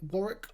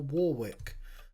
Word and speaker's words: Warwick: Is it Warrick or Warwick? Because I know Americans always pronounce that wrong when they're talking about uh Warrick Davis.